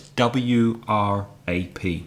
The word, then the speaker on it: wrap: Please remember, with wrap, there's a silent W. So it's W-R-A-P, to wrap up.